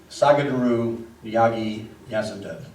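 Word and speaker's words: Sadhguru Jaggi Vasudev: Sagadaru Yagi Yasudev.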